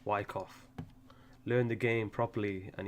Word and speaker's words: Wyckoff: And all of that is Silent C, Wyckoff.